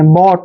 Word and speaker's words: bought: देखिए उसको सीखने का तरीका क्या है, जब भी वर्ड के लास्ट में OUGHT आता है तो इसका उच्चारण हम ऑट करते हैं। क्या करते हैं? ऑट, ऐसे ऑट, ऑट करना है। जैसे BOUGHT, देखिए बी को हम क्या पढ़ते हैं भाई? बै पढ़ते हैं, बै। ठीक है, और OUGHT का उच्चारण हम क्या करेंगे? ऑट, ऐसे ऑट कर देंगे। बॉट, बॉट, बॉट मीन्स होता है खरीदा।